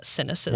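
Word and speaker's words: Sinocism: regarded newsletter on China called cynicism that's spelled with an S but you know it sounds like sinesses it's also spelled with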